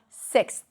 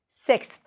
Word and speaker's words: sixth: And we also have sixth. Sixth.